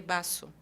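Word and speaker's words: vaso: do espanhol né é o v em espanhol ele tem um som de B mas não é um B forte eu não vou falar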